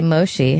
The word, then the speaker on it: Moshe: Natasha Leggero and Moshe Cash are in studio.